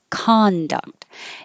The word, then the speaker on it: conduct: And if it's a noun, it's more likely that the stress will be on the first syllable. So in this case, con, you're going to hear ah, conduct. If it's the verb, it could be spelled exactly the same way, but instead of the vowel ah, you hear nothing.